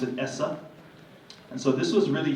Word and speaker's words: ESSA: we looked the same as es si but pronounce it essa and so this was really huge because for